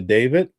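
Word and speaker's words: D4vd: It's pronounced David, but it's spelled with a 4.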